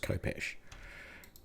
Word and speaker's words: khopesh: word and then realize that it's no it's pronounced khopesh okay brilliant I'll move you there but you're